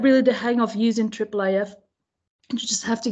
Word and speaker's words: IIIF: should tell you what triple AF is about so we have triple AF spelled like this and it's a International